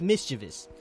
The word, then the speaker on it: mischievous: it correctly was Devante it's mischievous there is no extra easiest it's mischievous right now